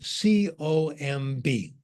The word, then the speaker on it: comb: Let's say you see the word written C-O-M-B. Mm-hmm. How do you pronounce it? Tell Comb.